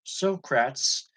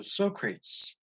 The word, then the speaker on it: Socrates: quote by Slick rats he attributed the statement to silkrats as a rhyme with no rates so Socrates that's the way I always assumed it was pronounced Michael's Solaire I heard